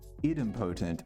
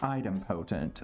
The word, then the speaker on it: idempotent: do you pronounce it so it's either way idempotent or item potent okay so idimpotent rules